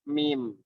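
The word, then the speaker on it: ميم: Sekarang kita ke huruf mim. Huruf mim. Huruf mim tadi makhrajnya ya seperti yang saya jelaskan tadi, huruf mim sama dengan waw sama dengan ba, yaitu berasal dari pertemuan kedua bibir.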